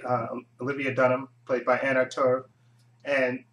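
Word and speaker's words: Anna Torv: Starring Joshua Jackson, John Noble, and Anna Tur. It's her name. That's how you pronounce her name.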